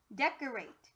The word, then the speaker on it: decorate: can be flexible so instead of it being d it's actually going to be dead dead last syllable rate try for the real word decorate and my friends this